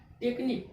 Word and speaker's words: technique: ठीक है, जैसे TECHNIQUE, यू क्या हो गया, साइलेंट हो गया। तो TECHNIQE, इसमें भी ई क्या लास्ट में, साइलेंट है जब ई, तो इसमें भी दो लेटर साइलेंट है।